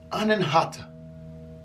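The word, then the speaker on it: Anahata: is the heart chakra the sanskrit word is pronounced anenhata the color associated with this chakra is going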